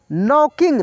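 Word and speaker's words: knocking: नॉकिंग, नॉक miss होता है दोस्तों खटखटाना, तो यहाँ नॉकिंग खटखटाने लगा, ठीक है ना, नॉकिंग, नॉक से नॉकिंग बना है। यहाँ पे के साइलेंट होगा दोस्तों, ये साइलेंट वर्ड भी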